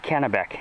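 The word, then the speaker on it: Kenabeek: folks know we're in a little place called canabek it's called it's spelt k-e-n-a-b-dub so my brother has built down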